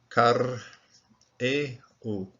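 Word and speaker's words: כרעו: There's a metech here, which suggests, and I think that's the case, that this Shiva is chopped away from this particular syllable, so it has its own syllable over here. Rather than closing the syllable, it's karehu, and those bending over, bowing over, those.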